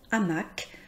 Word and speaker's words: hamac: Par exemple, avec, donc, hamac, nous voyons que le C est prononcé.